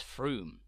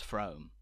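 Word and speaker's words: Frome: mistake as I did it's Froome not from thank you so much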